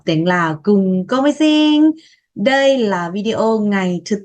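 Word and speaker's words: ສີ່: Bốn, si.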